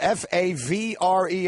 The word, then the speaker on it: Favre: oh yeah I mean you can have a word that is spelled F AV re and pronounce it Favre it still doesn't make sense that's Ben Stiller exactly